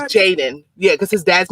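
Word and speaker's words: Jaydan: no that's it's on a birth certificate he's pronounced jaden but a spell j-a-y-d-a-n oh okay jaden cause his dad didn't want a junior so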